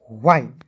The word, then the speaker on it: wine: उसके बाद देखेंगे डब्लू का वह हो जाएगा, INE है इसका उच्चारण आइन के रूप में करेंगे ना जी, हो जाएगा वाइन।